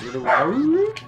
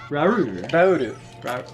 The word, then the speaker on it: Rauru: How would you pronounce that in Japanese? Rauru. Rauru. Say it again. Rauru. So it actually isn't supposed to be pronounced like a dog barking?